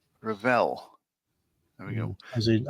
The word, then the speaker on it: Revell: And get waitress says, "Luke pronounces it revel with the emphasis on the second syllable." Rall. Rall.